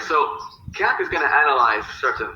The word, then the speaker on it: Kant: And what the first thing Kant says is that, and you're supposed to say Kant, like in the way that the British say can't.